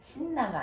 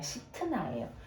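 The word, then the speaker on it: 싯나: 이게 발음이 신나가 아니라 시트나예요.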